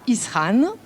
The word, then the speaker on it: Isran: Alors, l'avant-dernière représentée par Isran, n'est-ce pas? Et ne pas prononcer Ishran. Hein. Isran, voilà.